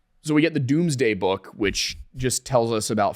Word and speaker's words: Domesday: And it ended up being, it's spelled Domes Day, Domesday, but it's pronounced Doomsday. So we get the Doomsday Book, which just tells us about farming products.